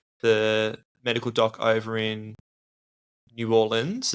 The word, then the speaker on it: New Orleans: medical doc over in New Orleans. Is that how you pronounce New Orleans, it? Yeah. New Orleans. Don't say New Orleans, though. No, they'll know you're not from there. Yeah.